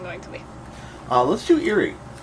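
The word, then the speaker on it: Eiry: Let's do Eerie. How do you spell that? It's E-I-R-Y. But it's pronounced like something spooky. Eerie.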